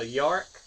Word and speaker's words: Yarak: The Yarak, I believe is how you say it. Yeah, it is.